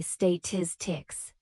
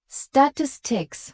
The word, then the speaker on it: statistics: The word is statistics, and English learners typically say state ticks with heavy stress on the second syllable. When native speakers use a more balanced approach, statistics with primary stress on the second syllable, but